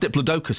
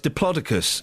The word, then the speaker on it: Diplodocus: and the big diplodicus turns out it's not pronounced Diplodocus as I was told in the 70s that's what I thought it was yeah I know it's diplodicus and I feel really embarrassed saying it it's